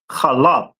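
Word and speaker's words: חלב: Milk is pronounced in the Hebrew as calab.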